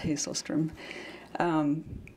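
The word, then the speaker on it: Hasselstrom: one is Linda hazelstrom that's Swedish by the way so it's pronounced hazelstrom it's called hawk in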